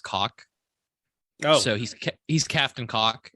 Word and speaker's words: Gaulk: It's captain, and it's spelled Gaulk, but it's pronounced cock.